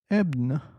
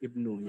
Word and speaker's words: Ibnu: Ebna. Ebna. Hello, Ebna. Ibnu. Ibnu. My name's pronounced Ibnu, yes.